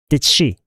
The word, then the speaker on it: did she: Did she? Did she? Did she 발음이 어려운 않으시죠? 이 D를 아예 묵음 처리하고 d랑 she랑 합쳐버려요. So did she?